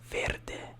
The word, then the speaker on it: verde: have it okay so green in Italian we say Verde Verde Verde brain is it might sound like a little like like complicated to like roll the r's but just keep practicing